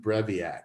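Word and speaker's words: Breivik: a guy named anton breviac i may be mispronouncing his last name but i think it's b-r-e-i-e-v-a-k he's from norway he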